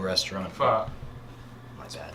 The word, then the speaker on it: pho: Yeah, I mean, she didn't really tell us it was going to be in the unfinished basement of a faux restaurant. Pho. My bad.